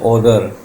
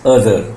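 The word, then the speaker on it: other: इसी तरह अदर को बहुत से बच्चों से मैंने सुना है ओदर. This is not correct pronunciation of द word. द word is अदर नॉट ओदर.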